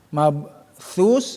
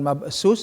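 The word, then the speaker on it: مبثوث: Yauma yakunun nasu warashi mabthus, bukan mabsus, awas ya. Ya bukan mabsus tapi mabthus.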